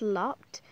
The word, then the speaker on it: lopped: I'm not trying to be rude or anything, but it's not looped, it's lopped, because my bunnies, you see, they're mini lops, so because I do stuff about them, I decided to call it Mini Lopped Beanie Boos.